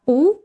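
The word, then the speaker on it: août: август во французском языке это слово произносится двумя способами либо у либо ut оба эти варианта являются верными вы можете себе выбрать один из них но я бы вам советовала запоминать вариант от где мы произносим конечный т далее идут осенние месяцы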